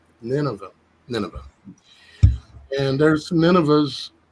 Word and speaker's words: Nineveh: city of uh NV is that how you pronounce it Dan Nineveh Nineveh Nineveh and there's some ninas in this Eclipse